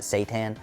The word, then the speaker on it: seitan: call it seitan right it looks like C Shin to me but they pronounce it seitan there's another one tofu